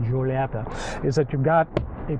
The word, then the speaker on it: Giulietta: the Alfa Romeo Giulietta, you have to say it like that, Giulietta, is that you've got a proper tread pedal.